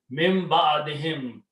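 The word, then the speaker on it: من بعدهم: Then the min will act and will change this to kasra. Min ba'adi. Qari will come and he will recite this hymn for easy pronunciation. Mim ba'adihim, after them, after Nuh alayhi salam, we raised, we brought.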